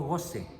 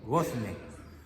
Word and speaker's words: gozne: Gozne, no goce, gozne. Se escribe G-O, ¿sí? Z-N-E, gozne.